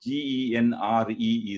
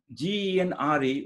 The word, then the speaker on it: genre: G-E-N-R-E is a French word. And in French, it would be pronounced, the R sound in French is very tricky. It's very different from English sound. It is articulated somewhere inside your mouth. It is similar to the ha sound.